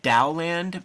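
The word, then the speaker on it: Taoland: And then there's like another series called Dowland, but you know, it's spelled like T-A-O, but it's Dow, T-A-O-L-A-N-D, where it's like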